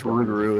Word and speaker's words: Rougarou: It's Rougarou is the way to pronounce it.